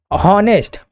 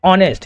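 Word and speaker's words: honest: यहां पर बताया गया है होनेस्ट। ऑनेस्ट नहीं बोलते इसको। क्या बोलते हैं? ऑनेस्ट। यहां पर क्या होता है? एच साइलेंट होता है।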